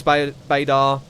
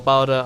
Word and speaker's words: Bader: Douglas Bader. Or Barda, I think he prefers his name to be pronounced as.